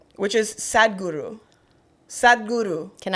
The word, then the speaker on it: Sadhguru: Sadhguru.